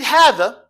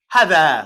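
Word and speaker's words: هٰذَا: it's short and long, although it is written as if it's what class short and long, like this, it looks like it's just what? Hadha. Hadha. Look, class. Hadha. Right? But actually, it's a small little indication here, which indicates that technically what it really is a what? It's a 2 count.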